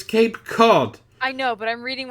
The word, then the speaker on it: Cape Cod: called its Cape Cod it's spelled Cape coat yes but you should know it's Cape Cod I know but I'm